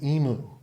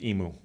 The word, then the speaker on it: emu: And then Old Man Emu. Oh, yeah. And by the way, I got a comment that I mispronounced emu. It's supposed to be emu. Emu. From a fellow from Australia told me this.